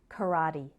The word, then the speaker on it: karate: kicks and punches and the english pronunciation of its name is karate sesame sesame is a